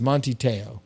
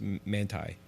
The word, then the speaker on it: Manti Te'o: really funny to be is that how you say his name that's how I say his name wrong I thought it was manti te'o no it's man ty man ty yes yeah you had DeRay